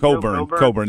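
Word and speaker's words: Cockburn: Coburn. The CK is Coburn. silent. CK is silent.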